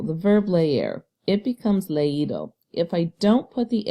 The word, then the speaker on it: leído: And instead of leído, I would pronounce it ledo. But we don't want to hear ledo. We want to clearly hear the ending ido, because that past participle